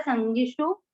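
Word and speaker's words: सङ्गिषु: और न कैसे आएगा कि स और स के बाद अनंग है तो इससे स पे बिंदी लग जाएगी जो आधे न का उच्चारण देगी। संगीषु, संगीषु, सॉरी ये छोटी मात्रा संगीषु।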